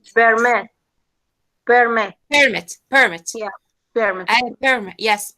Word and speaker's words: permit: per yes great perm when it's a noun the the first syllable so it's permit permit permit permit yeah